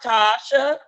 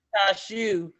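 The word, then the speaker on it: Tashue: It's pronounced Tasha, but a lot of people pronounce it Tashu because of the UE.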